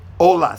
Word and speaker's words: hola: good very good h-o-l-a ola say hola yeah so h is a silent you don't pronounce the h my last name is